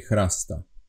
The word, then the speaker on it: chrasta: We say chrasta. Chrasta. It's pronounced as KH, KH, Ch. Chrasta. Not ch. This is not ch, like in Slovak, in ch, no. This is ch. Ch. Chrasta.